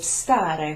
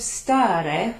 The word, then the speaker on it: stare: there is the verb stare, which I think is on page 4 of last week's handout.